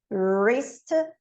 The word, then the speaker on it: wrist: E não é, ele é direto na letra R do inglês, que é lá, right, wrist, rap.